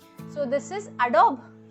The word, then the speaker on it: Adobe: So this is Adobe. इट is pronounced as एडोबी. Okay, इसका जो last ब है उसको एडोब नहीं बोलना है, एडोबी बोलना है.